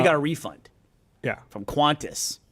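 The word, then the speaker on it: Qantas: acknowledge that you also it's not quantis there's no you cantis cantis you say cantis no I mean it's quantis it's just not spelled that way when well how do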